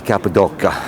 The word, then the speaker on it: Cappadocia: they spell it capota it's actually the TRU pronunciation is k a p a d o dou k a capid DOA anyway right let's uh get into a little